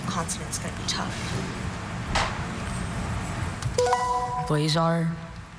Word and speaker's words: blazar: Blazar.